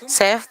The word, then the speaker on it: Seth: Seth, dont la prononciation est proche du chiffre 3 en coréen.